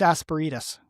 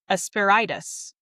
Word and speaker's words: asperitas: It says asparagus or asperitas. Asperitas. Wait, rhyming with margaritas. Asperitas. Asperitas? Yeah, sure. Huh. Is it a Latin word? Well, yeah. Latin for roughness. Asperitas.